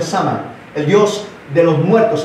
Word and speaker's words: Samhain: Los druidas eran satanistas que hablaban y servían al dios, se pronuncia Shama, pero es Samhain. S-A-M-H-A-I-N, Samhain, se pronuncia Sama, el dios de los muertos, el dios de la muerte.